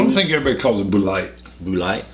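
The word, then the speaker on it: Bulleit: That's how somebody corrected me and said it's pronounced. Really? Because it's French. Ah. I've told you that. I know. But I don't think it's Boulite. I think it's Bullet. I like Bullet. Bullet sounds tough.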